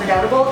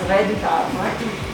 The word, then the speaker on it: Redoutable: A lot of people call it redoubtable. It is not redoubtable. It is actually pronounced Redoutable. Redoutable? Redoutable, like R-E-Y-D-O-O, and then T-A-A-B.